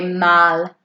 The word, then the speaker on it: mal: today, you could say mal. Mal. I'm opening my mouth quite largely when I say mal to get that ah sound on the A.